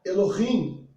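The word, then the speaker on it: אלוהים: Em hebraico se pronuncia Bereshit bara Elohim.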